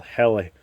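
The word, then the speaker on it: Helle: it's made off of a um company called heli and i've never been quite sure how to pronounce it but it's h-e-l-l-e so you can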